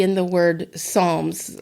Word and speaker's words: Psalms: P at the beginning pronouncing the P at the beginning or not a lot of people